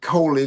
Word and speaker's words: Coley: Collie so he said make it Kohley like red foley and then add the